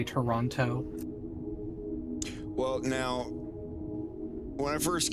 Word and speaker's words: Toronto: Canada when they say Toronto well now when I first came here I said Toronto and everyone's like you're supposed to like Canadians say it like Toronto you don't flatten the tea so I started saying